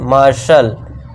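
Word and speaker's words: martial: दोस्तों फिर है अब टी के बाद आई ए आ गया तो इसे क्या पढ़ेंगे मार्शल मार्शल ठीक है दोस्तों नेक्स्ट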